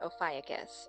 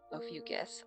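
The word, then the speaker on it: Ophiuchus: So, let's talk about Ofcus or Ofucus. I kind of interchange my pronunciation of them, but Ofucus is the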